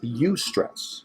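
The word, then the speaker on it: eustress: high stress but it's you stress not does your youth stress as a you I owe you I no no it's actually with an e but it's pronounced like use alright yeah and so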